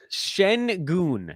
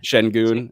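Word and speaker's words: Şengün: just prove that I've watched the guy play Shen goon Shen goon okay because clearly I don't know how to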